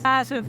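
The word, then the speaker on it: playas: "plashas" and the people are very sympatic I noticed your accent the way you pronounced it..."plashas" "plashas" yeah the Argentinians pronounce it that way "plashas" yes hello guys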